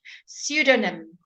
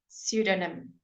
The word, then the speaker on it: pseudonym: we have PS words we we don't say the P hurry you don't have to say something it's quite a lazy language pseudonym pseudonym false name pseudonym psychiatrist and pneumatics